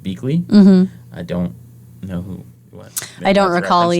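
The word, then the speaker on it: Biechele: um let's see bakel is pronounced okay it's pronounced beakley it's a b-i-e-c-h-e-l-e it's pronounced beakly i don't know who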